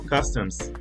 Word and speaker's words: customs: Es muy importante aquí que siempre al escribirlo y al pronunciarlo se le agrega la letra S al final. Tendemos a no pronunciarla en español, pero si le quitamos la S nos da un significado totalmente distinto.